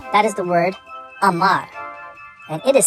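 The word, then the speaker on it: אמר: That is the word Amar. And it is spelled Aleph, Mem, Resh.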